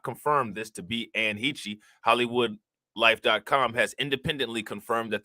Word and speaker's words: Heche: See, I'm Ann Heche, nigga. All right, Ann Heche.